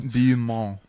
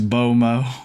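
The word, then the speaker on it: beau mot: beautiful words in French how do you think you pronounce this one Malcolm beo it's bomo B Mo are you serious yeah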